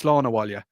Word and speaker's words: Slán Abhaile: It's Slán Abhaile. And I'm not going to spell it for you because it will mess you up completely. It is not spelled anyway, even slightly, how it is pronounced.